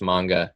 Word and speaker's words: manga: looks like it's manga it's actually pronounced manga in japanese that's one of the